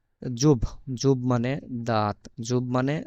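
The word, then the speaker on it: зуб: বাংলাতে যে ব আর ইংরেজিতে যে বি এইটার উচ্চারণ হচ্ছে বি এর মত জুব জুব মানে দাঁত জুব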